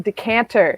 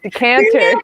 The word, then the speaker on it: Decatur: um not fort wayne it was in decanter decatur the cater not the cancer i said to cancer